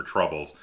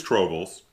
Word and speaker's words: Trobles: I was calling it Asking for Troubles. No, it is Trobles.